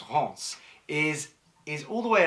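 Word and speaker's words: Reims: to haunts Ross is um spelled Reams but pronounced haunts is is all the way up in past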